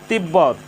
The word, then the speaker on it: তিব্বত: তিব্বত, এখানে ব এর সাথে বফলা যুক্ত হয়েছে। ব এর সাথে বফলা যুক্ত হওয়ার কারণে বফলার উচ্চারণের কোনো পরিবর্তন হয়নি, বফলার উচ্চারণ অবিকৃত রয়েছে।